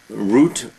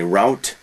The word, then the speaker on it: route: Root, or many Americans say route.